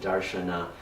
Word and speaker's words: darshana: of darshan I mean the Sanskrit pronunciation makes it darshana in the Indian languages it is the very same word as darshan also I'm using it